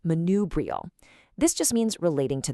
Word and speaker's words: manubrial: And building right off that bone, we have its adjective form, manubrial, pronounced manubrial.